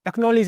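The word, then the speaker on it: acknowledge: एक्नॉलेज में क्या होगा, ठीक है ना, इसमें साइलेंट होगा के और डी आएगा।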